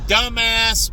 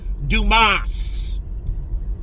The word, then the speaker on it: Dumas: make your vote, you dumbass Or as the commercial says, dumas. But in English, dumbass. In French, Dumas. And the commercial's right. The way you pronounce it in French is Dumas.